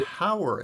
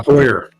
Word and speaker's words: Hoyer: I'm interested to hear from the Hauer. Is that how you say it? Eric Hauer? Your family name? Oh, Hoyer. Hoyer. Yeah, Hoyer.